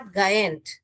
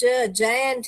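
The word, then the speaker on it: giant: okay गुलवर जो है जयंट थे नॉट गायंट ग नहीं है जयंट है बहुत लोग इसे गलत से उच्चारण करते हैं तो क्योंकि ज्यादातर जो जी है अपना हार्ड साउंड जो है ग ही करता है मगर यह जो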